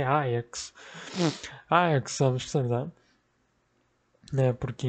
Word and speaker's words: Ajax: É importante deixar isso claro, que a pronúncia correta é Ajax. Ajax Amsterdam. Né? Porque em holandês o J não tem som do J como no português, ele tem esse som de I.